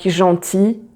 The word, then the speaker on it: gentil: So most of the time when you have IL, so you have this longer E at the end of a word. So like gentil, outil. So you just pronounce the E and not the L.